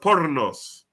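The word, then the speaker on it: πόρνος: It's pronounced pornos.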